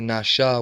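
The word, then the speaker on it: נשא: The word pronounced NASA, but rather Nasha with the sh sound and opposed to the S sound.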